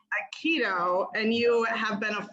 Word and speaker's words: Aikido: Aikido. Aikido, and you have been a full-time live-in student under the Zen master, and I'm gonna let you say their name.